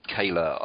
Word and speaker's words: Koehler: looked on your website they told me the correct way to pronounce your surname because I'm sure I pronounce it the way that everyone else would do on reading which is ker but anyway it's Corey Kayla and music goat what